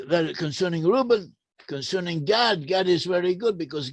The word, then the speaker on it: Gad: that we pronounce as Gad should have been pronounced, or could alternately be pronounced, more often than not as "Goth." In other words "Goth" is a legitimate alternative for the name Gad, "Goth."